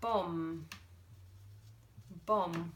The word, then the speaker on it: bomb: good now what about Bom Bom which let its silent there hopefully you can see that the B is silent but let's use the